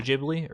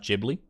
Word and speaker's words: Ghibli: in my head now I think it's pronounced Ghibli it's like it's like gif thank you blade thank